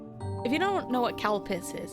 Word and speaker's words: Calpis: If you don't know what calpis is, it does not sound like what it sounds like. It's spelled C-A-L-P-I-S. It kind of sounds like something else, but it's not.